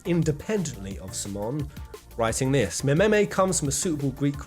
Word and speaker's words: meme: of Simon, writing this: Mememe comes from a suitable Greek root, but I want a monosyllable that sounds a bit like gene.